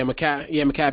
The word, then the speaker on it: Mekhi: How you pronounce his name? It's Mekhi? Did I say it right? Yeah, Mekhi Becton.